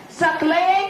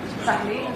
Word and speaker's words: Saqlain: May we please give it up for the marketing head, Lifezen, Saqlain Shivani. Did I pronounce it right? Yeah. Saqlain is okay?